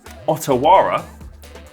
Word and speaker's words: Otawara: I'm going to lead off with the Otawara, which is the first time I'm pronouncing that, so I hope I'm getting that right.